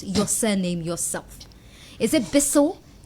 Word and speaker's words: Bissiw: hear you pronounce your surname yourself is it bissell pronounce it for us well it's okay but i think it's a heavy name